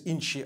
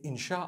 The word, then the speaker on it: insha: inchi means to create no one says inshi Allah they say insha Allah that's what it